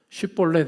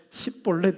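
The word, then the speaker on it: שיבולת: 그 방법이 바로 쉿볼렛이라고 발음해 보라고 합니다. 근데 에브라임 사람들이 쉬 발음이 안 됐던 것 같아요. 스 발음밖에 안 돼요. 쉿볼렛 해보라 라고 했을 때 십볼렛 이렇게 발음합니다.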